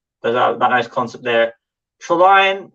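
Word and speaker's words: Trillion: Trelion, I always pronounce it that way, just with the pun of the word, saying it like that.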